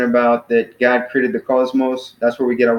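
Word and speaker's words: κόσμος: and stuff so cosmos so it's on the first syllable is two syllables cause most so Kappa Omicron Sigma mu Omicron Sigma so that's the two syllable so the first one call is enormous so it's kind of emphatic on the first civil cosmos so that means world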